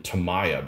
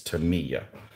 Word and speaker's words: Tamiya: of those models and i always called them tamaya but apparently i've been saying it wrong the whole time it's tamiya but what do i